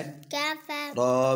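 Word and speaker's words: كفروا: का फा फा मिलाए का फा रा पेशवारू पेशवारू कफरू। ये जो अलिफ है ना वाव के आगे ये साइलेंट है, ठीक है।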